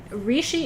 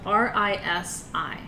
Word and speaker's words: rishi: book so um so rishi is spelled r-i-s-i okay but it's pronounced you'll hear people say risi and rishi but it's r-i-s-i and